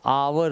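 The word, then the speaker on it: hour: He will return in अ आवर, अब इसका pronunciation जो होता है वो आवर होता है। अ साउंड आप देख लो, वॉवल साउंड है, और वॉवल साउंड के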